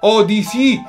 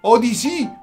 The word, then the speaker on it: Odyssey: di questa b mario o di sì si pronuncia così ok o di sì si pronuncia o mario